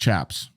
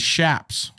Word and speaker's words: chaps: says it's pronounced chaps the word is derived from Spanish the correct oh it's not pronounced chaps news to me the correct pronunciation is shapes also the bandana had